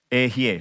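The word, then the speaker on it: אהיה: Ehye. Say Ehye. I am. It is spelled like, the word is like this.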